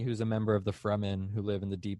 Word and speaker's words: Fremen: It's definitely the Fremen.